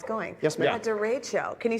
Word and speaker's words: derecho: A derecho.